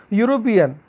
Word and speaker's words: European: European, okay, e is vowel, but the pronunciation that is European means u is indicating as a y, means u is a consonant, okay, here, that's why we use a European.